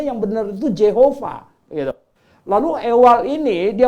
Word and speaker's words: Jehovah: Nah, padahal di Alkitab Perjanjian Lama, Masoretic Text, itu kitab yang tertua yang ada huruf hidupnya, bacanya yang benar itu Jehovah gitu.